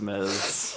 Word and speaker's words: Ms: don't you take care of that it's Ms but okay she's like it's Miz now I think it is Miz but the question is